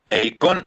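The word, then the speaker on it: εἰκών: Eikon e iconos. Entonces, el acento en el griego está en la O.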